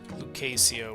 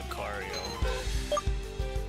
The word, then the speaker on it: Lucario: when like for example like Lucasio would bother me when when talking about Lucario like when they say it over and over again it's not the correct name or pronunciation.